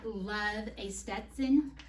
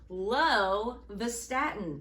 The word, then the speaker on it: lovastatin: You mean love a Stetson? No, I mean lovastatin, an HMG CoA reductase inhibitor or anti-lipidemic.